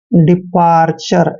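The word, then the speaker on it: departure: और TURE को चर पढ़ना है, चर। डिपार्चर, ऐसे डिपार्चर, विदाई, विदा करना।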